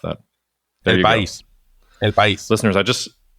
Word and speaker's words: El País: I've never pronounced that. There El País.